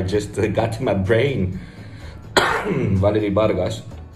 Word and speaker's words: Valerie Vargas: Valerie Vargas. That's how we would say her name in Spanish.